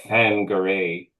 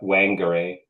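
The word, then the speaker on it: Whangarei: Bangare um is the wh is kind of pronounced like a in Maui. So, it's kind of fangare. Um although um other people call it Wangare.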